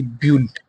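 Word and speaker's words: build: notification on कर लीजिए बी यू आई एल ई बिल्ड बिल्ड इसको हम क्या पेंगे बिल्ड य जो आई है वो साइलेंट है तो बिल्ड यानी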